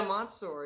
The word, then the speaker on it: Mansour: Mansour, which I'm pronouncing correctly, right? Yeah, Mansour. Yeah.